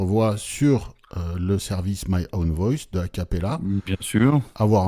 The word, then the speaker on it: Own Voice: Comment tu le prononces? Own Voice.